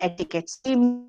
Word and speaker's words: etiquette: your yes and maintain etiquette ETI see the word isced as e not etiquet the Q is silent it's etiquette and what is etiquette eates